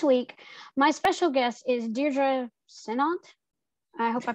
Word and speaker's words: Deirdre Sinnott: harrison and this week my special guest is deidre sinat i hope i pronounced that right welcome to the show oh